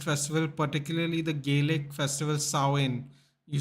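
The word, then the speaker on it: Samhain: a Celtic Harvest Festival particularly the gelic festival sain you say it's sain although it's written and samin over here I don't know the Kelts have a different way of saying words so it's pronounced sawin apparently which are believed to have Pagan Roots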